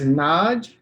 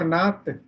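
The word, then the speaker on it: 낮: This is Naj or Naat. Naj, it is Naat.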